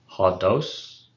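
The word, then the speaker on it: ὁδός: And I mean, pretty much the same, except now we have the persistent accent on the ultima.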